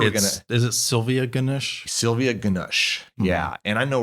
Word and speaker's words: Ganush: Ganush. Because I'm sure is it Sylvia Ganush? Sylvia Ganush.